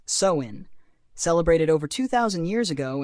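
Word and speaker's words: Samhain: the Celtic Festival of samhan pronounced soin celebrated over 2,000 years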